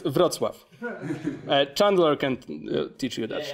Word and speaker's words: Wrocław: It's pronounced Wrocław.